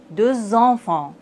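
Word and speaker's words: deux enfants: Vous voyez, dans la liaison, le S et le X se prononcent Z. 3 éléphants, 2 enfants.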